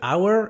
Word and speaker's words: hour: Attention, le H de hour est muet. C'est un des rares mots avec un H muet ici.